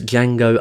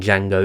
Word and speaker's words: Django: In Django Unchained, Django tells Nero's character that the D in Django is silent, to which Nero's character replies, "I know."